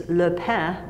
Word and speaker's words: pain: french-canadian it's interesting that the word for bread is lepen which is spelled PA i n like pain and I've seen people